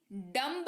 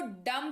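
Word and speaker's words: dumb: अर्थ होता है टुकड़ा डी यू एम बी डंप नहीं पढ़ेंगे बी नहीं है यहां पर भूल गए बी को भूल गए हम लोग यहां पर इसको दम पढ़ेंगे क्या पढ़ेंगे दम यानी की गंगा क्या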